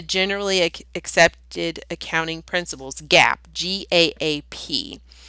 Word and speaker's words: GAAP: And I know it's phonetically incorrect. It probably should be GAPE, but we tossed we tossed phonics out the window years ago, so I guess we're not holding ourselves to that.